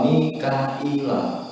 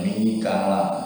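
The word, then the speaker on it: ميكائيل: Wafi kiraatin dalam kiraat yang lain itu wa Mikaila. Itu ada hamzahnya betul. Nanti sing jelas. Wa Mikaila dan bacanya itu Mikaila gitu. Bihamzatin kelawan nganggo hamzah wa ya'in dan ya.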